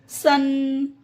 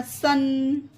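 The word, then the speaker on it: sun: आगे देखते हैं, स्टैंड, सन। इसमें भी दो कॉन्सोनेंट्स के बीच यू आया तो आ उच्चारण हो गया, सन।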